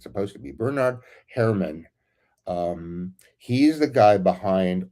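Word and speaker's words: Bernard Herrmann: Um the the the soundtrack people I really really like um Bernard Her try to pronounce his name like like it's supposed to be. Bernard Herman.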